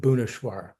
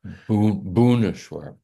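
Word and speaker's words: Bhubaneswar: It's just right here, this town of Bubaneswar. I mean, that's how we pronounce it. They pronounce it Buneswar. Buneswar.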